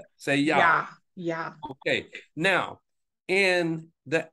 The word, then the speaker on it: Jah: But now the letter J is not even in the Hebrew language. So it's pronounced with a Yah. A Y. Y-A.